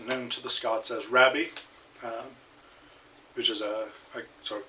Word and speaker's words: Rabbie: So Robert Burns, known to the Scots as Rabbie, which is a sort of contraction of Robert. Robbie, pronounced with a Scottish accent, would be Rabbie.